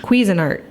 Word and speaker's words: Cuisinart: i have a cuisine cuisine art cuisinart i think that's how you say it it is something that